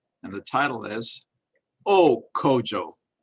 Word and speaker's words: Kojo: name of Kojo, or as they say there, Kojo, which is the actual pronunciation, Kojo.